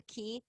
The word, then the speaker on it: QI: It's called a key. It's pronounced QI.